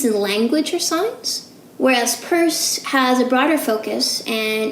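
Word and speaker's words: Peirce: sanders purse so apparently that's how you actually pronounce his name is purse not Pierce and both of these guys were operating back in the eighteen hundreds and early 1900s so sews and purse explore pretty similar ideas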